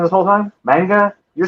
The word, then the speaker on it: manga: Manga? You're saying manga. Yeah, I think you can say it either way, but um I guess in Japan they manga.